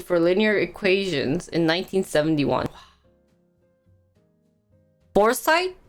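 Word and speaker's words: Forsythe: foresight that's how you pronounce it ah for scythe in the beginning matlab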